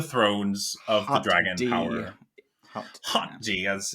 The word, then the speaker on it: HotD: rings of the thrones of the Dragon power Hot G as it's pronounced which I can't stop thinking of hot